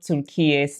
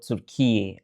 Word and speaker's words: Türkiye: the comment section that it's no longer Turkey but Türkiye.